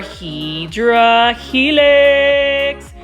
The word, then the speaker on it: Hedera helix: This is our Hedera Helix.